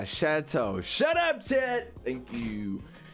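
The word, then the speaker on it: chateau: what word is this how to pronounce it's called a chatau shut up Chad thank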